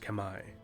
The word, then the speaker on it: Khmer: is now modern day cambodia the kemmer correctly pronounced kamai or khmer or cameron english khmer khmer khamai which is the one that i've been saying